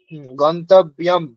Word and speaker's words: গন্তব্যম: জ ফেলাম ম হসন্ত গন্তব্যম তাই না ম এর উচ্চারণ করতে হবে ঠিক করে গন্তব্যম ঠিক তেনা গন্তব্যম